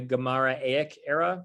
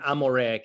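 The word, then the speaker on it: Amoraic: be gemara in the in the gemara era that's not really a word the the amareek era era is the is the correct academic pronunciation um my my recollection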